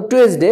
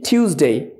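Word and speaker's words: Tuesday: এভাবে সানডে সানডে Monday টিউজডে ওটাকে বলতাম টুয়েসডে বাট it will be টিউজডে টিউজডে ওয়েনসডে এটাকে আমরা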